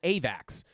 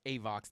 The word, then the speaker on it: AVAX: Daily green dot is printing as we are getting a push up on AVAX. Or AVOX, guys. It's actually pronounced AVOX.